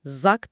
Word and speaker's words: Zok: Birincisi Zok mekaniği, Zak diye telaffuz ediliyor.